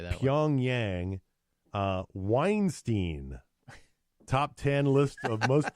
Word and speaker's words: Weinstein: sexual advances to rape Weinstein has denied the allegations according to babble some linguish argue that his name should rhyme with Einstein they should they it's